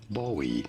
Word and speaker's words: Bowie: This is generally pronounced as Bowie knife.